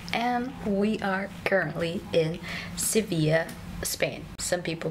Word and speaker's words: Sevilla: to our channel and we are currently in sevilla spain some people pronounce it as seville we arrived here at